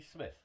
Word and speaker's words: Smyth: This is Smith, spelled SMYTH, because I wrongly called you Smythe at the beginning.